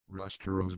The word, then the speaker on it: Ruster: at the name itself Ruster is pronounced rooster like the bird and it simply means